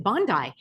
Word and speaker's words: Bondi: Friends, you're asking me for my analysis on the recent Brown and Bondi shootings. Yes, they are beyond absurd, and that's how you pronounce it, Bondi, not to be confused with Pam Bondi, although